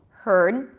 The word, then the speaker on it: heard: should be pronounced differently the first one has no vowel in the middle heard the second one has